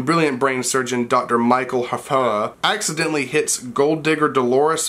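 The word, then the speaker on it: Hfuhruhurr: Michael That's really exactly how his name is pronounced. His last name is spelled H-F-U-H-R-U-H-U-R-R. When brilliant brain surgeon Dr. Michael Hafara accidentally hits gold digger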